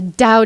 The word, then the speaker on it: Tao: The Tao Te Ching. Yeah, wake up. The Tao is spelt with a T, but it's pronounced with the D.